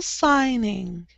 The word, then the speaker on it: signing: Signal, signing. Signal, signing. Signing. Thames, no, no G. Signing. Signing. Yes, the G is silent in that word.